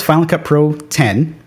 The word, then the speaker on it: Final Cut Pro X: I remember when Final Cut X, is it Final Cut Pro X or Final Cut X? How do you say it? It was Final Cut Pro 10.